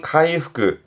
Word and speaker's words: 回復: 발음은 카이후크, 카이후크.